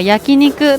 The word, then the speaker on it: 焼肉: これは焼肉と読みます。